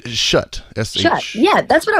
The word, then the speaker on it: Shutt: Is it shoot or shut? It's Shutt.